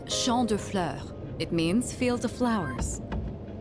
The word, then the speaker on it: Champs de Fleurs: It's Champ de Fleurs.